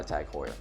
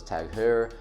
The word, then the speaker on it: TAG Heuer: All of that is provided by TAG Heuer. So, really cool brand. Took me a while to figure out how to pronounce this name. I thought it was Tag Hair, but it's actually Tag Heuer.